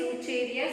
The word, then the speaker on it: Wuchereria: Wucheria, though the pronunciation is Wucheria, so here it is Wuchereria, but it is pronounced as Wucheria, and it is known to be a filarial worm.